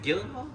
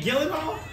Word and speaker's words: Gyllenhaal: chilling I'm just saying gyllable how do you say it Sandy that's a gate it's a g it's a g but it's pronounced like a j damn you've been butchering